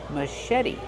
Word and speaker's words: machete: maet the C8 makes a soft sh sound like Sho Mas maet put the stress on the second syllable and make the vowel e like red and bed maet machet and the t is a fast e because it's between vowels machete this is a machete